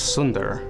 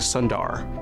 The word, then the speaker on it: Sundar: feel like they belonged cuz in THL it's Sunder but my dad who's a doctor none of his patients could say his name so he changed it to Sundar and that's how I've always said my name so now it's our